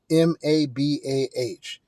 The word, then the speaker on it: MABA: M A B Ah, it's pronounced MABA, rhymes with MAGA, but it's a lot better.